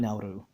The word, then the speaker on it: Nauru: in their languages now but spelled like now at all but it's they call it nauru right um and as